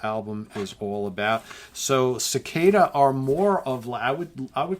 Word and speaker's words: Ciccada: We've got Cicada Harvest. That's Cicada spelled with a C-I-C-C-A-D-A, Harvest.